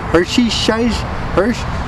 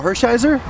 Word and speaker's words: Hershiser: up rub and I I said some guy Hershey Hersh my dad goes oh Hershiser yeah is that how you how Hershiser oh